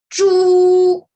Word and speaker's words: 猪: The pronunciation of this character is 猪.